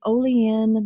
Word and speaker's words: Olean: billboard yeah a little tiny town in Missouri Olean Missouri did I say that right you said